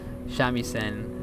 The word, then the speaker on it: shamisen: And he was a really good shamisen.